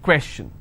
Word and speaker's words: question: stress on may information if i have the word question how many syllables two question all right and i will stress here question clear so the rule